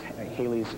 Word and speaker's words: Halley: Well, in the States, it's pronounced Halley's Comet. Really? I thought it was Halley's Comet.